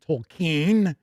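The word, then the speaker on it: Tolkien: MC points out that cubicle 7 did the 5e Tolken game toolken if you prefer that pronunciation before Freely got it.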